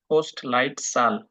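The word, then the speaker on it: Postleitzahl: থাকেন সেই শহর ভাই এটার উচ্চারণটা পোস্ট পোস্ট লাইট সাল পোস্ট লাইট সাল পোস্ট লাইট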